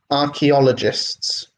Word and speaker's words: archaeologists: you see you you archeologists with accent on the second avoid archaeologists is the pronunciation was built again well